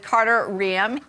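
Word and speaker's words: Carter Reum: She's got an upcoming wedding here with Carter Riem.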